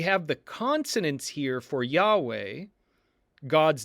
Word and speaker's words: Yahweh: YHWH, with the vowels, and that would have been pronounced Yahweh, but it's given the